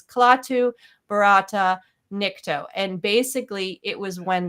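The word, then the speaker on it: Klaatu barada nikto: Now, he's not saying it correctly. The original phrase was Klaatu, Barata, Nikto.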